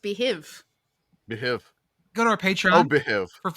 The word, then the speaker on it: Beehiiv: I really hate the spelling on that. That's why it's pronounced behiv.